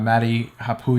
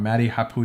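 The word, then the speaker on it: Matti Haapoja: McKinnon Casey nice tat Maddie Kapoor yeah I always get his name wrong Maddie Haku yeah I think that's how it's pronounced why they all use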